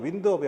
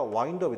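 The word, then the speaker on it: wind up: 근데 이게 발음이 윈드업이 아니라 와인드업이 되겠죠.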